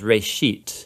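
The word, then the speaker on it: רֵאשִׁית: Genesis comes from a Hebrew word. It's pronounced reshit, and it just means beginning.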